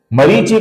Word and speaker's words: मरीचि: इसका पहला नाम है मरीचि, इसमें री दीर्घ है, ची ह्रस्व है। मरीचि का जो विसर्ग है